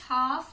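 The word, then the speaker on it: half: Okay, so these were the words wait, हाफ, नी, जज and honest. Wait में G silent, हाफ में L, नी में K, जज में D एंड ऑनेस्ट में H इज साइलेंट.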